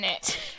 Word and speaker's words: init: Well, maybe you're just pronouncing the T a little bit too hard.